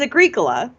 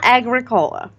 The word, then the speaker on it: Agricola: gibberish anyway yeah so apparently it's Agricola not Agricola and so so just to